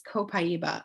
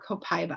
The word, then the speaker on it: copaiba: And then a great companion to frankincense is copaiba, or copaiba, however you want to pronounce it.